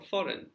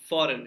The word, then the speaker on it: foreign: the correct spelling for foreign if you're thinking about option A you're absolutely right option a foreign f o r e i g n so the g is silent but it is written so the major difference